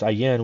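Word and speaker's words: Ayin: value of 70 pronounce pronounce aen with a slight nasal twing and means an eye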